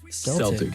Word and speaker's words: Celtic: I mean, I would think Celtic Fest, but no, they pronounced it Celtic Fest. Okay. Like the basketball team.